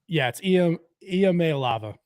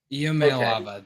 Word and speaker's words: Iamaleava: It's not an L. Oh goodness. It's is it I? It's Iamaleava. Iamaleava.